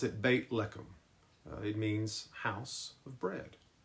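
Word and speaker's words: בית לחם: place is called Bethlehem in Hebrew we would pronounce it bait leum it means House of Bread the name conjures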